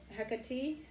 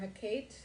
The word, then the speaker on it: Hecate: the moon and the great mother sacred to hecate or hakkate or hakkat i've heard so many different pronunciations um the mistress of the crossroad the